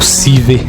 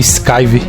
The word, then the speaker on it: Sciver: Não é Sciver ou Siver, é Sciver.